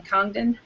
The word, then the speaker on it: Congdon: and Nimue Brown, Congdon. Wait, how do you say your last name? No, you said it right. Oh, I did. Okay, the G yep. is not silent.